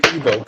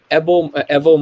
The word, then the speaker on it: Evo: the imara president and i don't like when people say evil that the that it's a that's a pronunciation that like just does not ring well to the ear um evo morales is the was